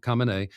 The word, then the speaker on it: Khamenei: I'm trying to pronounce it the way they're all pronouncing it now, Khamenei.